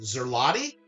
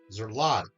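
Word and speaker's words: złoty: It's pronounced Zerlotti. Zerlotti. Okay. But let me ask you a question then. If you're going to help us out and educate, we're all here. I'm all here for that. Zlotti, I see it with that Z L.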